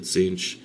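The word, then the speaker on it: Tzeentch: and these guys worship the Zen one or the zinch depending on how when you how you want to pronounce that and the emperor children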